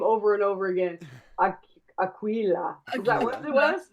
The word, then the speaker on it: Aquila: Aquila. Is that what it was? Aquilar. Aquila. Aquila. They definitely used a Q sound. It was definitely Aquila.